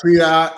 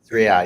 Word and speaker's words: Sriya: It's great to connect with you, founder, CEO, and inventor of, pronounce it for me, Yeah, Sriya AI Sriya.